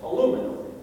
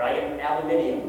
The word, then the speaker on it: aluminium: an unusual backstory, is the element aluminum, or aluminium, I have to say it here. We always say it wrong these days, but aluminium.